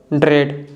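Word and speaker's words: dread: The letter A इज not pronounced in the combination of EA। जो letter ए है अगर ई के बाद आता है तो ए को हम नहीं बोलते हैं, ए साइलेंट होता है।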